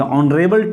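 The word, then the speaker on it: honourable: अब देखिए यहाँ पर लिखा है आपका कॉन्सोनेंट से, बट इसका जो प्रोनाउंसिएशन है दोस्तों वो है यहाँ पे साइलेंट है, यच का जो प्रोनाउंसिएशन दोस्तों है वो क्या है, साइलेंट है, इसलिए हम क्या लेके आएंगे दोस्तों, यहाँ पे एन लेके आएंगे।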